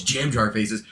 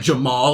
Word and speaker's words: Jam Jar Faces: numbers it's cool it's jam jar faces the amount of people who call me like jamal or